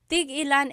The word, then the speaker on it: tig-ilan: Tig-ilan is a homonym, meaning it can have different translations depending on how it's pronounced. So tig-ilan, when there's a hyphen in it, you have to have that glottal stop.